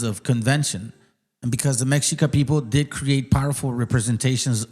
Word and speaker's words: Mexica: This was the time when the Mexica, pronounced Mexica, right?